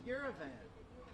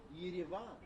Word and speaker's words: Yerevan: The capital of Armenia is Yerevan, or Yerevan, if you want to pronounce it a little bit closer to Armenian, or even Russian, because those are the two main languages spoken in Armenia.